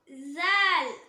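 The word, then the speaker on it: ذال: Next letter ஜால். ஜால் ஜால் same like சா. மேல் பற்களுக்கும் கீழ் பற்களுக்கும் நடுவுல நாக்கோட நுனி வெளியே வரும்போது உச்சரிக்கக்கூடிய லெட்டர், அதாவது பல்ல விட்டு லைட்டா வெளியே வரணும்.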